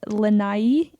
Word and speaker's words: Lanai: we were in the island lanai is how you say it which was really fun